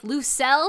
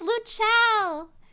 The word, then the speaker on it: Lucelle: I mean, Lucelle is clearly pronounced like Lucelle. No, it's not. It's Lucelle. It's Lucelle. It's Italian.